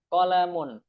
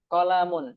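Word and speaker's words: قلم: Hadza qolamun. Qolamun jangan qolamun ya. Biasakan kalau pendek dibaca pendek.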